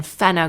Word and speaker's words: Fenna: And then Fenna Grace. Fenna is an old Frisian name that I found online. It looks the way it's spelled.